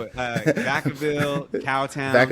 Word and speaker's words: Vacaville: Like Vaca, v a c a. It's really I think it means cow town in Spanish, but Vaca uh Vacaville, cow town.